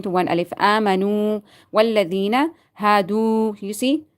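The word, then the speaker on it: هَادُوا: Amanu, walladhina, hadu. You see? Not hadu. Not hadu. Hadu, you have to stretch it according to one alif because there is wow is silent and before that there is zamma.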